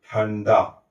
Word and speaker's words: ठंडा: इसलिए इस अनुस्वार का उच्चारण किसके जैसे होगा? ण की तरह होगा और हम इसका उच्चारण करेंगे ठंडा इस तरीके से।